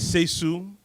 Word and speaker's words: Sesugh: Yeah, so my name is Seisu, so it's spelled Sesugh. The last name is, so the all GH are silent, right?